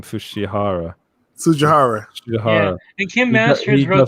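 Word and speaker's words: Tsujihara: And then Kevin, I can never say his name, Sujihara. Yeah. And Kim Masters wrote the expose on him as well. The T is silent.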